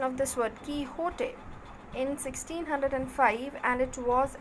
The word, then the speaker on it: Quixote: first part of don quixote it is the pronunciation of this word kihote in 1605 and it was an instant success